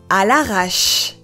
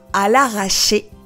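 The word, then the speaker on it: à l'arrache: それは、à l'arrache です。À l'arrache. À l'arrache.À l'arrache. Attention à bien prononcer à l'arrache et non pas à l'arracher, car ce n'est pas la même chose.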